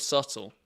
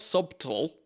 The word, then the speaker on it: subtle: Like, who put a B in the middle of subtle? What? It's not subtle. Who the Christ put a B in the middle of that word? It still looks Yeah, Chris, it was for for your Yeah, it still looks weird to me. And I was suddenly like, okay, if I say it, I don't say the B, but when I write